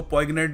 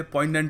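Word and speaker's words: poignant: से समझाऊ पोइग्नेंट हां इसको पोइग्नेंट नहीं कहते पोइग्नेंट होता है ठीक है वैसे इसका जो रूट वर्ड है वह होता है पंजरी बट अब यहां पर जी साइलेंट है तो समझ जाना ठीक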